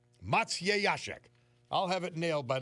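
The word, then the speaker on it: Maciejaszek: K and it says to pronounce the Polish surname with that spelling say Matsy Yashek Mat Matya Yashek Matsyashek I'll have it nailed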